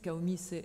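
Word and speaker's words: CAOMI: sont qui sont revenus kaomi CAO pour mineur euh me demandez pas pourquoi on prononce CAO et et pour l'autre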